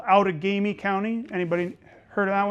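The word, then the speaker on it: Outagamie: there's a county in um uh Wisconsin called out ofi County anybody heard of that one uh so in that's an ojba word that's not a French word uh and that is originally is pronounced utami and some people translate it as people who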